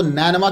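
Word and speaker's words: Nineveh: यह मैं आपको नैनवा के मुख्तलिफ प्रोनाउंसिएशंस बता रहा हूं। यह नीनवा भी बोलते हैं, नैनवा भी बोलते हैं, नैना आ मद है यह भी बोलते हैं, नीनू आ भी इसको बोलते हैं।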